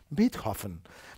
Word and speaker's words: Beethoven: Beethoven, que deia Beethoven, perquè m'han dit alemanys que ho hem de pronunciar bé, Beethoven.